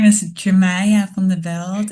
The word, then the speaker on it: Yemaya: My name is Yemaya van de Belt. Indeed, in African, it is pronounced as Yemaya, and there are so many different pronunciations of it.